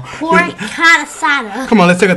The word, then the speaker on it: carnitas: Pork carnitas.